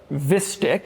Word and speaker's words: Vistiq: There's also the Vistiq, so like Vista, but Vistiq.